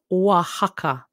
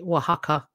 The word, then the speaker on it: Oaxaca: That is pronounced Oaxaca. Like the Mexican food restaurant. Is that what they spell that phonetically for us, don't they? Oaxaca.